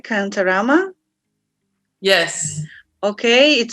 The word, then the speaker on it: Kantarama: So, do I pronounce it right, Kantarama?